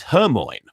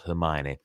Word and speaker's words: Hermione: but I pronounced it her Moyne her moines granger sir for the longest time i read it as her Moines not Hermione but anyway now that